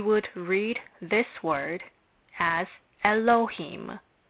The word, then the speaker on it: Elohim: Hence, we would read this word as Elohim. Elohim. Elohim can be separated into the following syllables. First, Aleph is not pronounced, but we must remember that it is a consonant.